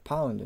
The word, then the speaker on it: ポンド: このポンド発音的には英語の発音的にパウンドなんですけどもまあ日本的にはポンドですよねでそれが g に